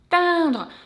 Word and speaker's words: atteindre: The second one is nasal E this time. So it used to be nasal A, now it's nasal E. And we pronounce it like so. A, just regular A. Atteindre. So to pronounce it, we spread our lips a little bit and drop our jaw.